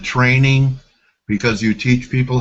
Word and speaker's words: Trening: Okay, so it's Trening, right? Yes, Okay, TR. so there's a D missing from trending, but it's Yes, it is. trending. And Yes. and you pronounce it training because you teach people how to trade?